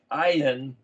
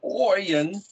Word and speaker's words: ayin: i'll write the word ayan it's pronounced as if it was a y i n but i spell it with an o y i n not because it's pronounced oyen but because it's the